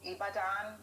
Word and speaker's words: Ibadan: say a special hello to my family in ibadan did i say it right sir yes you